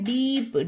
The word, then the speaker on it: deep: उसी तरह से आगे देखते हैं, आगे है डीप, DEEP डीप। इसमें ई यानी कि लंबा दीर्घ उच्चारण होगा। रूल क्या था हमारा कि जब किसी वर्ड में डबल ई एक साथ आए तो ई लंबा दीर्घ उच्चारण होगा, तो डीप।